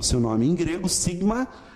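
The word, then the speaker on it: σίγμα: Olha como é que o seu nome em grego, sigma, a pronúncia sempre S, mais sibilante. Nunca vai ter o som de Z, como em português às vezes, né?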